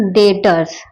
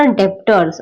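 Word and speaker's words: debtors: यह capital and ड्र डेटर्स एंड क्रेडिटर्स हां एक मिनट हां यहां मुझे बताना था आपको so this is डेटर्स इट्स नॉट अ डेप्टर्स okay वो जो बी हमें दिखता है आई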